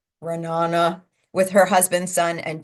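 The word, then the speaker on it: Ra'anana: It's pronounced Ra'an, but that's pretty good.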